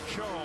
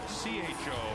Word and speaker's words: Tso: Rex Cho, spelled T-S-O, pronounced C-H-O.